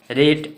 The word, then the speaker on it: rate: ए, और टी से ट और ई का उच्चारण नहीं करेंगे, यानी केट। रेट RATE रेट, रेट।